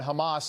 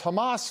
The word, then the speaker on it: Hamas: And on cable news, the anchors were making sure to pronounce Hamas like they say it in Gaza. Hamas, Hamas. Instead of how we would say it here in the West, it's just Hamas.